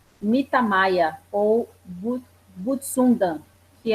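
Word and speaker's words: Butsudan: sou messiânica, e nós temos o Mitamaya, ou Butsundan, que é o altar dos antepassados, shintoísta ou budista. Se eu estiver pronunciando errado, vocês me corrijam. Virgínia Butsundan. Butsundan?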